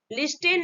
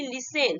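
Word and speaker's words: listen: Example देते हैं, देखिए एल आई एस टी ई एन, लिस्टेन नहीं, इसको बोलेंगे हम क्या बोलेंगे, लिसेन।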